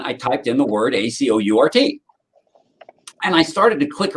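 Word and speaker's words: Acourt: So I found the word Acort, but it's spelled A-C-O-U-R-T.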